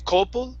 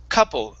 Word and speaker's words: couple: couple three okay so instead of saying coppol coppol it's ka couple of a couple trees of a couple trees